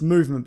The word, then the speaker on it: MVMT: It's movement, but it's spelled MVMT.